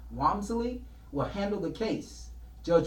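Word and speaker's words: Walmsley: get this Timothy arm when he pronounces his name Wamsley will handle the case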